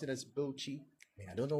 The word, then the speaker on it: Bauchi: And then they don't pronounce this as Bauchi, rather they pronounce it as Bochi.